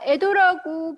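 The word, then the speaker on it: 江戸: 자, 우리가 알고 있는 이 에도라는 것도 사실은 한자로 강호라고 쓰고 일본어로 에도라고 읽는다라는 거죠.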